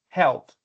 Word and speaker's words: health: anxious lonely establish and health. Something that happens quite a lot with basically English learner is that we tend to mispronounce these two. Health. Remember the th sound at the end.